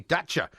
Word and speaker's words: Dacia: We are in our lovely Dacia, pronounced like Thatcher, so very posh.